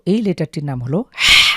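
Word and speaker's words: ح: হা কন্ঠের মাঝখান থেকে হলকের মাঝখান থেকে বা কন্ঠনালীর মাঝখান থেকে চাপ দিয়ে এভাবে উচ্চারণ করতে হবে।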